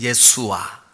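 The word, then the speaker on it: ישוע: 예수님, 예수와, 히브리 말로 발음하면 예수와, 예수와.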